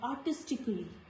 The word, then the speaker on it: artistically: Letter A is usually silent when it is followed by L-L-Y in the words like artistically. Here the sound of letter A is silent.